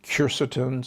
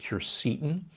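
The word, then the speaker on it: quercetin: a big fan of kercetin sometimes pronounced curcitin it's a compound that's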